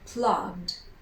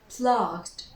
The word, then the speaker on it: plugged: So instead of saying plug, we say plugged, plugged, plugged. We pronounce the G and then a D, plugged.